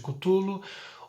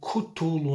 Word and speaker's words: Cthulhu: dúvida, o Cthulhu, que esse nome Cthulhu, na verdade, não teria pronúncia, igual Jeová no cristianismo não teria pronúncia. Cthulhu seria mais como Cthulhu, é mais como um grunhido mesmo, porque a primeira vez,